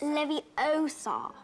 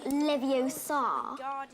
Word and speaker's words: Leviosa: someone's eye out besides you're saying it wrong it's Leviosa not Leviosa you do it and